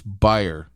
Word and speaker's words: Breyer: It's going to come to me because his name rhymes with retire. And so Justice Breyer should retire.